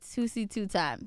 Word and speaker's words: Toosii2x: I said it right, Toosii2x.